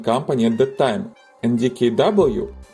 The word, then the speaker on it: DKW: at the time and dkw or rather deave in German pronunciation was a part of